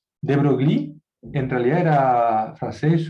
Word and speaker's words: de Broglie: La manera de pronunciarlo de Broglie en realidad era francés, la manera de pronunciarlo es De Broglie, pero se escribe de